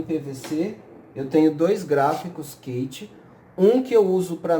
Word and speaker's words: Keiti: do gráfico quente tá Fiz se pronuncia Kate esse gráfico tá você